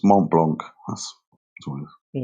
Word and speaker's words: Mont Blanc: I know I'm not pronouncing it correctly, but it's Mont Blanc.